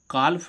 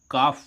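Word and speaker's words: calf: इसको हम काल्फ नहीं पढ़ेंगे। क्या नहीं पढ़ेंगे? कालफ। क्या पढ़ेंगे? काफ पढ़ेंगे।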